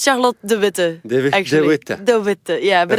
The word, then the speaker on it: de Witte: about it it's Charlotte D thewi yeah but it's a very Flemish name so so people from England or English speakers usually say the wit so it doesn't really